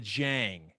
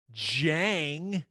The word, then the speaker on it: Dieng: we going with the jang i think it's jang and i agree the reason is whenever we did the draft special the other day that's how he said it and because i'm used